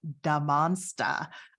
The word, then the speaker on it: Da Monsta: So one last building I wanted to show you at the Glass House is called Da Monsta. And I'm not saying it funny, that is how it's pronounced.